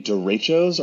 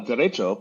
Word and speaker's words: derecho: A derecho, pronounced similar to derecho, is a widespread long-lived windstorm that is associated with a band of rapidly moving showers or thunderstorms.